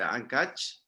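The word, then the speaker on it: Áncash: Si nos vamos nosotros más hacia el norte, pasamos por, ¿cómo se pronuncia este? Ancash.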